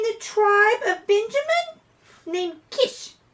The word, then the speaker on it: Kish: At this time, there was a powerful man in the tribe of Benjamin named Kish. Rhymes with fish.